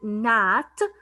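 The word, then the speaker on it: gnat: However, when I have this word nat, the letter G is silent, nat.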